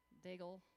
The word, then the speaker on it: Daigle: This is Lauren Daigle, that's how you say her name, version.